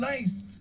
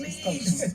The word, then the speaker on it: Nice: I didn't even know how to pronounce it at first. It's like, we're going nice. No. No, it's called Nice.